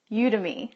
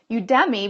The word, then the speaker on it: Udemy: were pronouncing it was you to me now you think it might be udemy because you think of Academy udemy but it's just